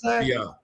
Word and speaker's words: Beyah: Beyah Beyah is the correct name he pronounced it according to the messenger.